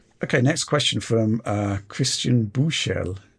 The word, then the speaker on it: Buchel: Okay, next question from Christian Buchel. I'm sure Alex can correct me on that German pronunciation. Buschel. That's it. Not too far off.